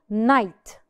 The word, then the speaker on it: knight: not pronounce the k more examples night night we do not pronounce Decay because it fall it was followed by an N Mish benint knowledge knowledge